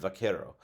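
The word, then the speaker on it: vaquero: today often times many Cowboys are called Buckaroo which is sort of a mispronunciation of vakero uh and uh in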